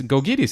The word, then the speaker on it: Gkogkidis: pronounce this and then vasil goes there and says it's gogis and you say good Lord the letters don't relate to what you're saying but fine that that's